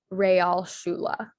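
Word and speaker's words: Realschule: shula okay um so the a sound in german is spelled with an e so for real that would be spelled with an e um and then the sha sound in german um is usually spelled with an sch and so that's why um you get the spelling of real r-e-a-l shula s-c-h-u-l-e um also german words will sometimes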